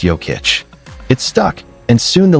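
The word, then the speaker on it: Jokić: Fun fact, Joic's nickname Joker came from teammate Mike Miller who couldn't pronounce Yic. It's Yokic.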